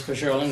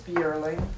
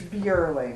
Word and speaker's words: Bierling: Bajorling, with your question. It's Miss Bierling. How do you pronounce it? I always say B.J. is B. It's Bierling.